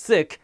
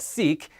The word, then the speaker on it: Sikh: a turban and a beard and yes it's pronounced sikh not sikh and our religion has three pillars nam japo